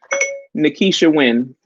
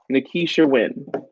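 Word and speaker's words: Nakisha Wynn: Her name is Nikisha Wynn. Yeah, that's her. She on her channel too is Nikisha Wynn, and it's spelled Nakisha, and then her last name is Wynn. Nikisha Wynn, and I'll type it in here.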